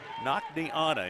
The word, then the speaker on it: Nakniana: Nakniana, interesting name. N-A-K-N-I, Nakni. Anna, A-N-N-A.